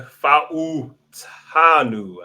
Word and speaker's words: Fautanu: All right, they went and got Troy Fautanu.